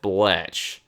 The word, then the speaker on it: Bletch: They call me Bletch. It rhymes with wretch. And kvetch.